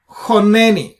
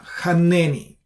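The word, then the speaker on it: חנני: This is choneni, not chaneni. Choneni. Choneni, why choneni? Because you do the same thing, just like chokhmah, except that you see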